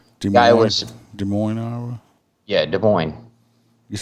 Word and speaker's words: Des Moines: state's constitution uh i i believe that says desmoing iowa iowa des moines iowa yeah des moines it says this it does say this i